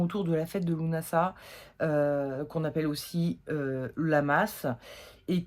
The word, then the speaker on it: Lugnasadh: de la fête de Lunasa, qu'on appelle aussi Lamas, et qu'on prononce aussi également Lugnasad ou Lugnasad, mais a priori la vraie prononciation c'est Lunasa.